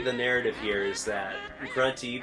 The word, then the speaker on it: Grunty: Basically, the narrative here is that Grunty, the witch, which rhymes with Fronty, wants to be beautiful.